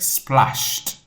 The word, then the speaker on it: splashed: So this word when we pronounce it would be like splashed like a t sound.